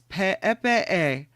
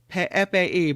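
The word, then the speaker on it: Peʻepeʻe: The next one is called, and this is kind of a funny name, it's Pe'epe'e, Pe'epe'e, but it looks like PP is how you spell it. But with the umlauts, it's Pe'epe'e Falls.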